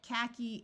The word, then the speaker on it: khaki: e sound like bikini khaki this is a silent h khaki is a light yellowish